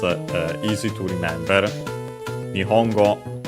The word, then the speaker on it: 日本語: Nihongo technically also Nipongo but usually Nihongo.